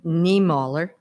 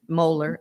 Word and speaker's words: Niemöller: And the gentleman's name is Martin Niemöller. That's Moeller. I think that's how you say his name.